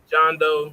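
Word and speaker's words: Jean Deaux: this fire I mean I think it's pronounced John down John Doe yeah you right yeah John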